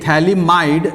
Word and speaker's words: phthalimide: अपना last preparation method है, that is your Gabriel, ये pH silent रहता है, THA thalamide synthesis।